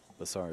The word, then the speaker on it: Besar: Jayson came up dry, but the 2 ball blocks the 1 ball, so his opponent, Besar, is going to have to play it safe. Al, am I pronouncing that correctly, Besar?